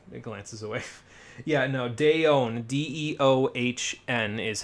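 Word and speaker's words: Deohn: Yeah, no, Deon, D-E-O-H-N is how you spell the secondary phrase there.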